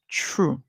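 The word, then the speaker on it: through: Our next word, true. True. Remember, we say that OUGH can make a lot of songs in English. However, in this word, the GH is silent and we hear the OU say oo, oo.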